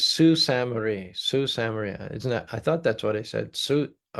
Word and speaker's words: Sault Ste. Marie: Natasha says Sault Ste. Marie, Sault Ste. Marie. Isn't that? I thought that's what I said. Sault, it's spelled S-A-U-L-T.